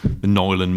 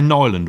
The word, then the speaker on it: Nyland: Do we say Nyland or Neuland or Newland? I think it's Nyland. Nyland.